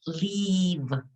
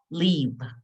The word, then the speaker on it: leave: it's longer it's that your mouth is going to be uh um your your yes like making a smile it's going to be tense leave and the sound at the end is with your lip under your teeth leave everybody try it